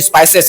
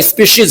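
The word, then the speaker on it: species: पढ़ा रहा था तो वो बोला कि सर ये स्पाइसेस है। मैंने कहा गधा ध्यान से देख वो स्पाइसेस नहीं वो स्पीशीज है। तो यहां एस पी ई सी आई एस स्पीशीज। यहां पर सी आई ई का साउंड क्या है? श है। श उच्चारण करेंगे।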